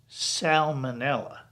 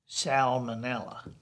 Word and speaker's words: salmonella: s-a-l-m-o-n is pronounced salmon but s-a-l-m-o-n -e-n-l-l-a is pronounced salmonella so it's salmon but it's salmonella frankly I think they should both be salmon